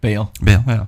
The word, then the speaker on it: Baal: Baal.